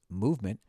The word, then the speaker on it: MVMT: and clean original designs mvmt pronounced movement grew into one of